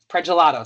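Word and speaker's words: Pragelato: Pelato sounded like the ice cream gelato. That's how you can pronounce it.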